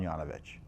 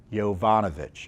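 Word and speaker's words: Yovanovitch: was significant pressure bringing brought the bear on Yana vich you're on I think her name is I keep on pronouncing her mispronouncing her name it's yovanovich excuse me and the problem was you can't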